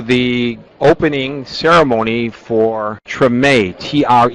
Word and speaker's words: Treme: everybody Welcome to the opening ceremony for TR t r m but it's pronounced TR it's not short for extreme it's